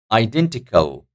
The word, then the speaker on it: identical: taking the stress indecisive identical identical identical so D the second syllable is taking the stress here identical immediately immediately so the